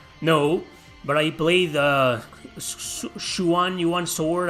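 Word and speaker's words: Xuan-Yuan: but i play the shuwan yuan sword i think it's pronounced sean juan sword i have one here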